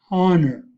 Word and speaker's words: honor: I will pronounce the English words: an apple, an engineer, an umbrella, an elephant, an hour, an honor.